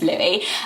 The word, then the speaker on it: Louis: how to say it weren't sure about the s being silent or how to pronounce